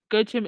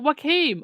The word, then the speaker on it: Joachim: Oh, Dana, the name Gochim is pronounced. Was it Joachim?